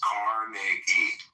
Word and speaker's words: Carnegie: Well, pronounce his fucking name right. It's Carnegie.